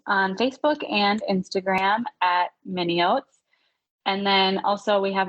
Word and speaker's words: Minneoats: don't realize this, but Minneots is spelled like Minnesota, but the last 4 letters are rearranged to spell oats. So it's Minneoats.